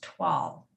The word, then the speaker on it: toile: rather than how it's spelled so t-o-i-l-e is pronounced twal yup and that's the pattern so it's not